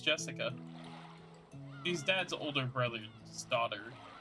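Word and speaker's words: 朱志香: sharing the same kind of name anyways is pronounced Jessica she's dad's older brother's daughter dad's older brother's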